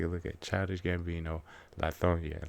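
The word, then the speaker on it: Lithonia: Child Gambino Lonia. Now remember, that's only pronounced that way by people who actually live here. Anybody else who says it will say Lethonia and we will look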